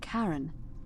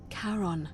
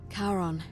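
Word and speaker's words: Charon: coin just as you described it only your pronunciation is a little off the name you heard wasn't Karen it was c h a r o n as in Caron the ferryman of the Dead karon who in exchange for the right coin helps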